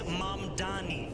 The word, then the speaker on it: Mamdani: And furthermore, the name is Mamdani. M-A-M-D-A-N-I. You should learn how to say it because we got to get it right.